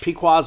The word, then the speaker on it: Pequod's: Like Pequod's my favorite Chicago pizza.